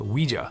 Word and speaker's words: Ouija: interested in the occult the name Ouija is said to have come from the combination of the French and German words for yes we and Ja and it was originally pronounced Ouija the rights to the